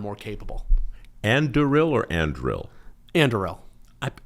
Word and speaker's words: Anduril: Anduril. I It's constantly mispronounced.